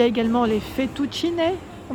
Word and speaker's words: fettuccine: Il y a également les fettuccine, on prononce comme ça.